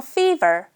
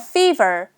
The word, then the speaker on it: fever: 일단 하나하나 다 해 볼 건데 저 좀 열이 있어요라고 할 때는 열은 a fever a fever 발음할 때 f 발음할 때요 입술을 꼭 붙이지 마시고요. fe ver 둘 다 f 발음도 윈니를 아른 입술을 살짝 얹어 보세요.